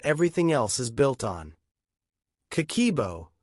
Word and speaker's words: Kakeibo: Habit number one, Kakeibo. The handwritten money journal. I know we start here because this is the foundation that everything else is built on. Kakeibo, pronounced kah-keh-ee-eh-boh, is a Japanese household budgeting method that dates back to 1904.